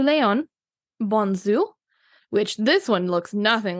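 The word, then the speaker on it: Bonnezeaux: I'm basically learning that I definitely do not pronounce X's when I'm saying French region okay sorry I got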